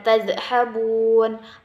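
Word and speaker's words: تذهبون: Fa aina tadhhabun? Fa aina tadhhabun? Fa aina tadhhabun? Ba-nya panjang ya, 2 harokat karena hukum bacanya yaitu mad tabi'i.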